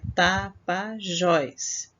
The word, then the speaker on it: Tapajós: palavra né é Tapajós é Tapajós então é a última sílaba diversidade é a penúltima